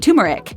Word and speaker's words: turmeric: The preferred pronunciation includes both R's, but don't feel bad if you've been saying turmeric. Lots of people do it, even professionals.